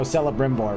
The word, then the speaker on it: Celebrimbor: boy what's the hard c hunt oh oh celebrimbor right if you listen you can again he